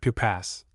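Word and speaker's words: Pupasse: Pupass, her name was Marie Pupass, but no one thought of calling her anything but Pupass, with emphasis on the first syllable and sibilance on the last.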